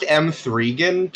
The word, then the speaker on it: M3GAN: It's like, you know, everyone has different tastes and things, but Janet, it's pronounced M3gan.